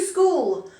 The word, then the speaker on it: school: question ask number two school s-c-h-o-o-l so we've got a silent h in there school h is very difficult to hear number three bake b-a-k-e